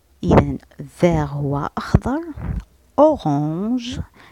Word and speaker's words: orange: orange à un ça se dit on.